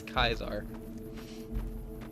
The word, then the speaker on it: Caesar: Well, it's the word Caesar. C-A-E-S-E-R, but they pronounce it as Kaisar.